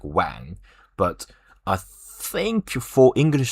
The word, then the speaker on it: Wang: They they read this way but they're like w pronounced this way like a w when and then it's add a g so a little bit nasal sound.